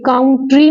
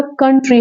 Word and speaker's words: country: जैसे कप, कप, ऐसे ही sound में काउंट्री नहीं होता, कंट्री होता है।